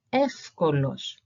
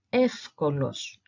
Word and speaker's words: εύκολος: So A and E and E and E, when are together and are before this group of consonants here, they make the sound AF and F respectively. So if we were to pronounce these words that I have here in the examples underneath, they would sound like this.